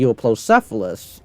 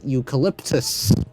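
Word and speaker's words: Euoplocephalus: We're going to be placing it side by side with the Euplocephalus, or what the gaming beaver calls eucalyptus. Man, I watched some of the gaming beaver's videos. He just can't really pronounce stuff correctly.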